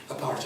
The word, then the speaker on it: apartheid: which means separateness uh we sort of pronounce it apar over here but that was a mistake when when the word red this country aparte is what it's called in Africa and I switch between